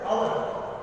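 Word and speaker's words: hour: S silent रहता है, H silent रहता है और हम लोग प्रोनाउंसिएशन करते हैं आवर, एंड आवर जो उच्चारण होता है उसमें ओ से शुरुआत होती है, ठीक है। आवर का उच्चारण ओ से शुरू होता है एंड ओ इज अ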